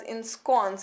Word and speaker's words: ensconce: the next word is ensconce how is it pronounced it is pronounced as in scones and it is a